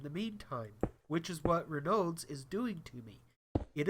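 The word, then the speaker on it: Raynaud's: Um it is Ronald's. Uh, I found out that I've been pronouncing it wrong this whole time. It is Renodes. Renodes. Renodes syndrome.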